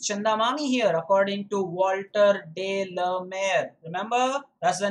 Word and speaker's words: Walter de la Mare: that's nice so it's chandamani here according to walter de la mer remember that's the name of the poet that's how you make the pronunciation okay let's go through figures of speech